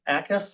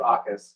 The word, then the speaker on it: AUKUS: We will look at variance 2405 ACUS. Is that the proper pronunciation, sir? She did it better. Oh. I was a teacher. Yeah. Actually, we call it, it's AUKUS.